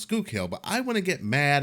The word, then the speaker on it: Schuylkill: Now, if you look at this word, you're going to be like, how the hell do you pronounce it? But it's pronounced Schuylkill.